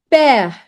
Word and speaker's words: père: And also, whenever this accent is on E specifically, it changes the sound to A, A, A, A. Par exemple, père, père. See, it changed to A.